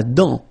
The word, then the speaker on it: dent: La dent. Final T not pronounced.